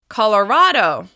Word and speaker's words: Colorado: Moving on, Colorado. Colorado. Once again, the stress is on the third syllable.